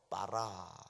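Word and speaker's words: ברא: 무에서 유를 창조하는 것을 히브리 동사로 빠라 그럽니다 바라 있는 것을 바꾸는 거 혹은 원자재를 가지고 뭐 새로운 물건을 만들어내는 거 이런 것을 아싸 이럽니다 발음이 천치 예 한번 해 봅시다 무에서 유를 만드는 거를 뭐라고요 다 같이 빠라 예 있는 데서 있는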